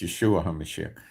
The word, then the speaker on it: Yeshua HaMashiach: Okay, so it's Yeshua HaMashiach.